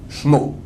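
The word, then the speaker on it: שמו: Dans la Torah, il est écrit sans le premier vav. Sin, mem, vav. On peut dire comment? Shmo.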